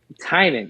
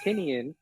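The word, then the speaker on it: Tynion: used to call it tinian and then I heard an interview with him and he said Heinen and he said his name looks like it's spelling tiny onion so he gets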